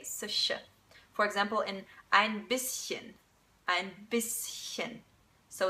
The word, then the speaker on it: bisschen: When the S is in one syllable and the CH is in another syllable, then you don't say sh, but you actually say sh. For example, in ein bisschen, ein bisschen.